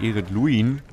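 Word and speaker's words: Ered Luin: Oder Eredluin. So wird es, glaube ich, ausgesprochen.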